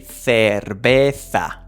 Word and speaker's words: cerveza: Also, don't forget that the V in Spanish, it sounds the same way as B.